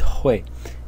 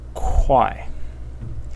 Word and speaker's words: 会: for this character, and it has three possible readings or pronunciations. The first one is the one that I just pronounced, Hui. Then there is Hui, and then there is Kwai in the fourth tone.